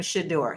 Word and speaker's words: Shedeur: Now, I'm noticing he is pronouncing his name Shador. So, I'm going to switch to that because and and I